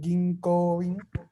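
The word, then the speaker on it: 銀行員: Recuerden que aquí la O, ¿qué me está diciendo esta O? que es largo el Largo, sonido de la Bien voz. de lado. La O es larga, ¿no? Entonces yo pronuncio Ginkoin.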